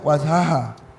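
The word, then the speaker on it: وجها: ujut dulu lanjut dulu wajahhu seharusnya wajha oh di sini wajhu ha harusnya wajha oke ada lagi enggak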